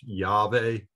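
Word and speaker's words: Yahweh: sacred name of god usually pronounced yave uh and if you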